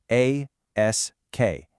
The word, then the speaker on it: ask: Make sure you get that S sound in there first and then the K sound. A, S, K, ask. Simple as that.